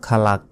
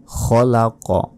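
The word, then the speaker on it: خلق: বলি মিন শাররি মা খালাক এটা ভুল এখানে বলতে হবে গুন্না হবে মিউ শাররি শাররি শাররি মাতে এক সেকেন্ড টেনে পড়তে হবে খলাক এখানে খালাক বলা যাবে না খলাক এবং এখানেও দেখুন ওয়াকফ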